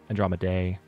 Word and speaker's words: Andromedae: Andromedae. See, even I'm forgetting how to pronounce the series. There's 4 different valid pronunciations. Duh, die, day, and D.